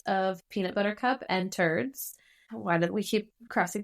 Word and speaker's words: Terdz: This hybrid strain is a cross of peanut butter cup and turds. Why did we keep crossing things with that one? Turds. It's TERDZ, but like same pronunciation.